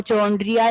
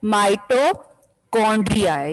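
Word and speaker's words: mitochondria: इसको चोंड्रिया नहीं बोलना, मोस्टली स्टूडेंट्स इसको गलत प्रोनाउंस करते हैं। माइटोकॉन्ड्रिया है ये वर्ड, सी से आपने जो है के की साउंड बोलना है।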